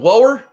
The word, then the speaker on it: Lauer: Justin Lauer. Spelled Lower. Pronounced Lauer.